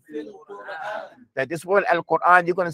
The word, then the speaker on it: القرآن: After you say qu, you're going to bring your lips back and pronounce the ra. Al-Quran. القرآن. Al-Quran. القرآن. Don't say al-Quran. It's not Quran.